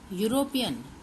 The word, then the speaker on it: European: we will write a European see here it starts with e but the sound starts with European European sound starts with Y so we will write